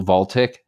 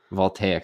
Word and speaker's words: voltaic: them into batteries and photo I can never pronounce this photo voltic help me out yeah voltaic I always mess that up solar panels and giant